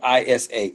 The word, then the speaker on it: Isa: It's spelled I-S-A. Isa.